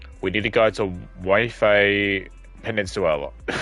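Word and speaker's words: Waifei Peninsula: Way Peninsula.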